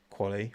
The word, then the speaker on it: quali: Quali rhymes with Ollie.